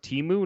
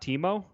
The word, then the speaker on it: Teemu: in on Eddie Olczyk did someone tell him that it's pronounced EMU not Teemo he said Teemu Selanne